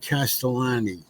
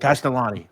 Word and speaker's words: Castellani: the picture what was that his name is pronounced castellani by the way castellani I don't know whether you have it I